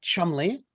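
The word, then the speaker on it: Cholmondeley: there's a last name chumley it is spelled c-h-o-l-m-o-n-d-e-l-e-y oh no but it said chumley and he worked with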